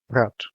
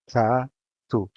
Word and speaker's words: rato: Rato. This is a two-syllable word, and it follows the general rule, so the stressed syllable is in ra. The A is open and the O is shut. Ra, tu. Ruel.